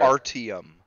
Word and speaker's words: Artyom: The main character, I can't pronounce his name correctly. Archon, I think his name was. The main Artyom. character. Artyom.